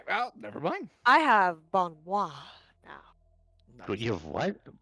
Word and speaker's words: bon mot: bon moi. It's actually Bon Mall. Bon moi. Bon Mall. Bon Mott. Bon man. Not mo. Bon Bon Mall. Mott. The T is silent.